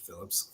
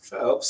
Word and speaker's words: Phelps: bring on Phelps Phelps not Phillips Phelps sorry I got your